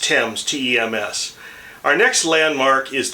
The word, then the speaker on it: Thames: While we're on the subject of bridges and the River Thames, now it looks like it should be pronounced Thames, but it's pronounced Thames, T-E-M-S.